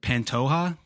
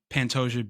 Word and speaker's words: Pantoja: Uh, God, I can't even pronounce these guys' names. Is it Pantoja? Is Yeah, that his name? Pantoja.